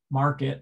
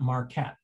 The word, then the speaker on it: market: most two syllable words, there's a vowel reduction in the non-stressed syllable. That's why it's market and not Marquette.